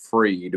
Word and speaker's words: Fried: Sam Bankman-Fried, although I think it's pronounced Freed. I think it is right. It's Freed.